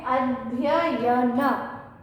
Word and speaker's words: अध्ययन: को नहीं छोड़ना है, इस या का भी हमें साथ में उच्चारण करना है।